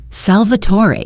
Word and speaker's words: Salvatore: "Salvator," he pronounced it the Italian way. musical almost.